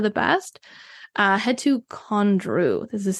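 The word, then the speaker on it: Condrieu: the best of the best uh head to condr this is c o n d r i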